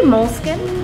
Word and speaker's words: Moleskine: Well, we say Moleskine. Moleskine? But it just depends on where you're from.